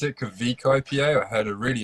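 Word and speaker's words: Kveik: I'm going to pronounce it Kvik IPA. I had a really interesting pronunciation of that earlier. It's quite. It should be halfway between a V and a W.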